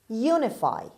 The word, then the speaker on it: unify: word number 10 unify unify unify the stress is at the beginning this word is a